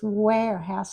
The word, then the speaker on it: warehouse: It's warehouse like a short A even though it has an E.